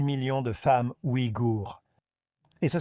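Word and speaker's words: Ouïghour: Le gouvernement chinois avait l'intention de stériliser 80 % des 6 millions de femmes igour. Et ça s'écrit o i g h o u r.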